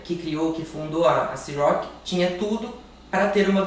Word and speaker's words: Cîroc: Popularmente aqui no Brasil a gente fala Ciroc, que é um nome popular e é um nome mais conhecido, mas a pronúncia correta dela é Ciroc, com o R puxado lá da França, Ciroc.